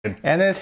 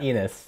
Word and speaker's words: Ennis: Ennis rhymes with tennis, not not Enis.